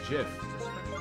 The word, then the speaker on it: GIF: how i say it i always say jiff like the peanut butter jiff it evolves at level 48 tula can be hella good and it evolves at level 41.